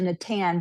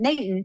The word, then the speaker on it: Natan: You know, how do And then I saw that Natan, it's actually Natan, but we're in the south, so that wasn't going to flow. So we pronounce it Natan.